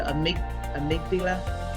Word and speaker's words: amygdala: And then it gives us the neuroplasticity term, and then the amygdala.